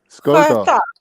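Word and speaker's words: sköte: SKO with an accent, the 2 dots, TE. Sköta. Sköta. Huh? So what does that mean? No, yeah, so it's like a fancier word to say vagina. Sköta.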